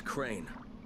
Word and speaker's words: Crane: No, my name's Crane. Crane? Crane rhymes with train and brain and sane and grain and rain and plane and the other kind